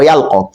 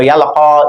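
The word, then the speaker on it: يلقى: writing, because you can see alqa that it actually ends with ya. But in pronunciation, it is pronounced as alif, and you see that the same goes for yalqa. The same way it is pronounced as alif, even though you are saying ya.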